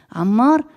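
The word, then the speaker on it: عمر: On peut dire Omar, on peut dire Amer, on peut dire Amar. Tout ça va être s'écrit A mimra.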